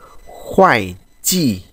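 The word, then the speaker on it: 会计: tri rao nhanh này Chữ này đọc là chữ khoái chỉ có nghĩa là kế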